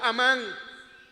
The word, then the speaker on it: Amán: ahí habla del malvado Amán. Yo me he consolado en todos estos años diciendo que en inglés se escribe con hice y se pronuncia Heyman. En inglés no es Heyman. Yo soy amán.